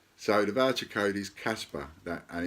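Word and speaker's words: Kaspa: So the voucher code is Casper, and it's capital letters, and that's K-A-S-P-A, Casper. It's not with a C like the ghost, it's Casper with a K.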